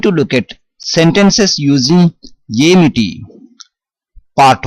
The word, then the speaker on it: ఏమిటి: The actual meaning of what is Amity, but in spoken Telugu, in short form, we pronounce as Enti, and in some contexts we say Emi or Aim.